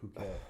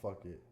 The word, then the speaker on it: Phuket: Is that how you say it? Phuket. It's not fuck it.